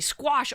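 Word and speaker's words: Skwosh: Squash. Oh, it's squash. Yeah, squash.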